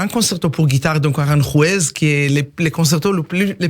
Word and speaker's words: Aranjuez: Ça s'appelle le concerto, mais moi je prononce très mal l'espagnol. Je préfère que Aranjuez.